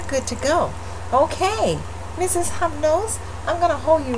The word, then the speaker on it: Hypnose: And yes, it's spelled N-O-S-E. Hypnose.